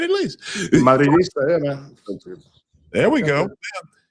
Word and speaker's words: Madridista: Madridista, yeah, man.